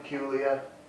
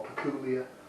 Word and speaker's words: Peculier: Now this Theakston's old Peculier, or Peculier, gotta stop pronouncing the R.